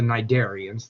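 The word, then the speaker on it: cnidarian: for a while uh the jellyfish that's the that's the nidian the the sea is silent in that word they had been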